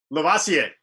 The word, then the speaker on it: Lavoisier: Lavoisier. Yeah. Lavoisier. Yeah, Lavoisier sort of sounds like that Busta Rhymes song, Pass the Cavassier. I mean, he told me that's how you say it.